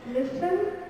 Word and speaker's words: listen: Silent T is not pronounced in these common words. Castle is never castle. Castle, Christmas, listen, whistle, and often.